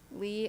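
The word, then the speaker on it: Lee Vining: All right, we're getting Lee as in pee vining is the proper way to say it.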